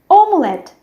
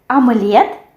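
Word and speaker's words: омлет: We have omelette, omelette. Here we also have the stress which falls on the last syllable, and in English it will be on the first syllable.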